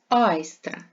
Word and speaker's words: айстра: як правильно пишеться слово айстра наголос падає на перший склад на літеру А айстри - це декоративні